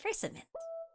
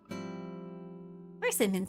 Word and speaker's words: persimmon: Persimmon season. You thought it was a holiday? No. I mean, you can celebrate persimmon season if you want. I'm using the second syllable being accent.